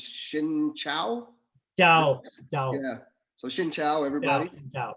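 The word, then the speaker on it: xin chào: years let me see in vietnamese the right way to say hello is shin chao yeah so shin chao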